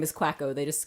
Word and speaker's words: Quacko: Oh ork waggle and they're just like it's quack oh it's quack oh they're just a bit of